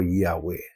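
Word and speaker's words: Yahweh: to his people uh it could be pronounced as Jehovah or Yahwe.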